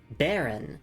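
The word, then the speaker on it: bairn: Uh Face says I believe it's pronounced baron. It's a Scottish word that means child or offspring.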